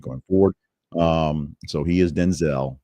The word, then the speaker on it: Denzel: Denzel Washington clarified in an interview that his first name is pronounced Denzel, not Denzel.